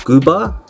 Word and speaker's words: Gooba: name of 6-9 son got called Guba is how you say I just found this